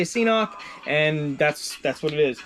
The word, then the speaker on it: CNOC: It's actually supposed to be pronounced Canuck, but I refuse to pronounce it like that. I say CNOC, and that's what it is.